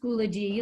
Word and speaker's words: Schoology: First, it's pronounced Schoology, like eulogy. So Schoology is the way that we are going to communicate with you.